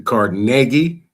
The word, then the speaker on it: Carnegie: The Rockefeller Foundation, the Carnegie, that's how you say it, the Carnegie Foundation.